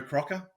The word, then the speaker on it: Crocker: And it's after Barry Crocker, uh which rhymes with Shocker.